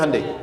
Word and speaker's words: Hyundai: bikin Honda sini hundai Hyundai kan dibacanya hundai kan sana Honda sini